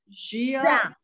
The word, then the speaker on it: già: That reminds me that I have one question of how to pronounce the Italian for already. Is it Gia? Già.